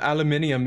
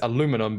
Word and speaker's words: aluminium: this is I mean aluminium is uh aluminium is the correct way to say it if you're going to spell it with the second I because CU it does have a second eye in certain parts of the world here though in America it only has it's aluminum because it doesn't have that